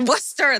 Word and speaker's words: Worcester: Worcester, that's it.